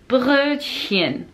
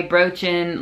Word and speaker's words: Brötchen: could do that, but with the T, it's just hard because you have to remind yourself to pronounce the T and then go into the really hard sounding sound. So it's like Brötchen. Brötchen.